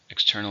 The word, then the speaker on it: external: External means outside, so it's an adjective. How many syllables are in external? 3. Stress on the second.